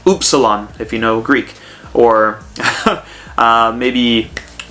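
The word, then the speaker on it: お: And then finally, we have the O, which is pronounced O. Okay? So, like in Oklahoma.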